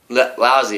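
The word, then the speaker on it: Lu-Tze: that's uh this guy loot says or lousy lousy is how you pronounce his name but that's his like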